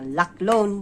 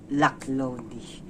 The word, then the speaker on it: Laklone: to pronounce this subtitle i thought this is a luck loan but uh the correct pronunciation is luck lonely oh my god you